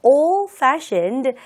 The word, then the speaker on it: old-fashioned: 자, old-fashioned 부분에서 old-fashioned 뒤 발음하지 않는 거, 거의 내지 않는 거 주의하면서 두 번 해볼게요.